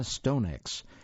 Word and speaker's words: Stonex: a novel by Emma stonex that by the way is spelled s-t-o-n-e-x Emma Stone X and that is